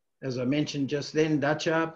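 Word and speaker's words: Datça: As I mentioned just then, Dacha, pronounced cha, not ka or sa, Dacha is the main center on this coast on the Gulf of Hisarōnu.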